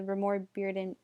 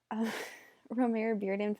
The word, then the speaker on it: Romare Bearden: he created the Bearden the Remora Bearden or I just announced his name wrong I am so sorry romare bearden foundation to help educate